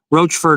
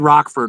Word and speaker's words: Roachford: Yeah, Roachford Road. We said Rockford originally and some and we were corrected by people in town told us it was Roachford and that's what we did.